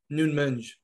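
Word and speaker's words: Nuno Mendes: just send that portuguese left back i think noon menge yeah that's actually how you say it shout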